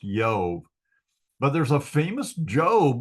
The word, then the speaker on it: Job: Jesus name Yeshua so it's the Y sound um so the name isn't pronounced job anyway it's yob so this name is pronounced yob but there's a famous